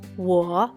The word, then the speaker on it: 我: WO se pronuncia 我, pero cuando aprendimos el número 5 en chino había explicado, la W y la U se pronuncia igual. U, pero yo pronuncia 我. Es muy fácil confundir los dos sonidos por esa razón.